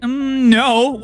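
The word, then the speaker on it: 円: you know it's funny even in Japanese it's not called Yen it's called n they have a y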